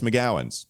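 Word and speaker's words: McGowens: hard time with this, forget the C altogether. Bryce McGowan's. Done. That's it. That's how you pronounce it. Just forget about that. Yeah. It's little for a reason. It's little for a reason. The G is big for a reason. Pronounce the G.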